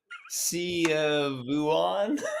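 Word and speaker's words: Szechwan: I saying that right how do you say it I say it uh see vuan I'm looking at my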